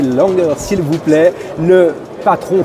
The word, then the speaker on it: Langer: Je suis avec Florian Langer, prononcez Langer s'il vous plaît, le patron, fondateur, directeur de Fish Explorer.